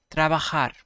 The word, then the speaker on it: trabajar: Work, trabajar, trabajar. It's trabajar because J is pronounced as ka.